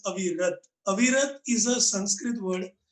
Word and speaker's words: Avirat: uh, First of all, my name is pronounced as Avirat.